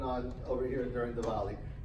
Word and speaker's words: Diwali: Diwali and remember that we would pronounce an Indian W more like a V so it's Diwali not Diwali just so you know